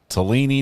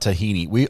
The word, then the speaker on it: Tellini: Tellini, not Tahini.